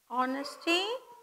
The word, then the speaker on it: honesty: So, honesty how do you pronounce honesty? H is mute, O-N-E-S-T. Honesty is the best policy.